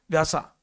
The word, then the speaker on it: व्यास: जो क दिख रहा व्यासा व्यासा व्यास बोलते हैं मालूम है बट बुक में व्यासा लिखा तो प्रोनाउंस व्यास करे तो आपको चार कैरेक्टर